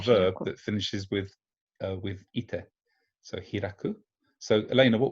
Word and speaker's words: 行って: So this is the principal exception in the group 1 verbs, that as it's iku, it should in principle be ite, but it's pronounced ite. So it's the one exception.